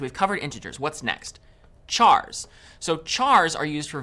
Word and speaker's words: char: Chars. So chars are used for variables that will store single characters. Char is short for character, and sometimes you might hear people pronounce it as car.